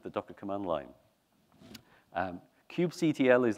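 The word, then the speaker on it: kubectl: dockor command line um Cube CTL is like the command line tool for cuetes um people say call it they pronounce it Cube coddle which is kind of nice and cute so a cube coddle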